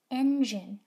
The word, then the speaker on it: engine: cat ears gym gentle this is the word engine engine if i want to know if this is a soft g or a hard g i have to look at the letter that comes next in this case it is i and i is in my gg cat picture so i know